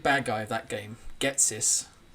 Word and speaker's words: Ghetsis: Not Gary, but the big bad guy of that game, Getsis. It Sounds like I'm saying get this. Getsis.